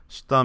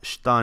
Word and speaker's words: shita: This tends to be pronounced without saying the e, and that's pretty true of words beginning with the character shi in general.